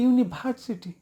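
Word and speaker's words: university: এরপরে আছে ইউনিভার্সিটি, এই যে ভি এর উচ্চারণটা হবে ব এবং ভয়ের মাঝামাঝি, আর যেটার উচ্চারণ হচ্ছে উই। তাহলে ইউনিভার্সিটি আমরা বলি ইউনিভার্সিটি, একদম কমপ্লিটলি সফলভাবে ভুল, রং। ইউনিভার্সিটি।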